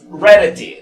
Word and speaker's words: rarity: Por ejemplo, aquí, rarity. Entonces, rarity. Entonces, rarity. Si lo vemos más, rarity. En inglés, pues la T se pronuncia como T o como R en la mayoría de las veces, dependiendo del lugar.